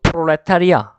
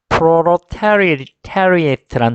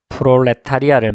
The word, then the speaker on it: proletariat: 근데 이제 발음은 바로 proletariat라는 단어로 발음합니다. 다시 한 번 더. proletariat 하면은 이게 바로 무산계급을 말하죠. 그리고 여러분들이 잘 아는 바로 프롤레타리아를 말합니다. 근데 발음은 지금 프롤레타리아 이렇게 발음되는 게 아니라 proletariat 이렇게 발음합니다.